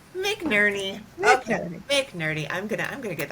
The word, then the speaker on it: McNerney: Is that how you pronounce it? McNerney? McNerney. McNerney.